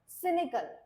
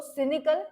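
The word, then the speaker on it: cynical: सी ए L okay याच प्रोनन्सशन कसा आहे तर सिनिकल पहिला जो सी आहे त्याला स म्हणून प्रोनान्स करायच आणि दुसरा जो सी आहे त्याला क म्हणून प्रोनान्स करायच आहे सो सिनिकल अस हे प्रोनान्स करण्यात येते वर्डला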